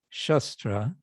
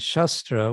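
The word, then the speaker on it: शस्त्र: at least one lecture there's two things there's shastra with a long a and there's shastra with a short a actually maybe this is in the bhagavatam anyway um and if one does not um except the guidance of shastra then one will be forced one will be controlled by shastra and shastra with a short a means weapons in other words by by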